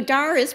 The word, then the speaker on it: Doris: So Doris, which they only pronounce that way in New Jersey, and I can't say Doris, it doesn't work.